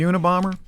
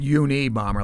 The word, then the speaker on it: Unabomber: You know why they call him the Unabomber? By the way, Why? I mean, maybe he is. it's not uni bomber like a bomber one. No, it's Una bomber Well, why?